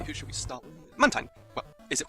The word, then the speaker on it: Mantine: But the last part is spelled T-I-N-E. Tine.